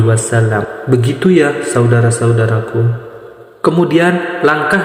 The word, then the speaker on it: wasallam: Dan jangan salah, kadang-kadang orang salah membacanya. Biasanya seperti ini, Sallallahu alaihi wasallim. Biasanya seperti itu. Jadi yang betul, Sallallahu ala Muhammad, Sallallahu alaihi wasallam.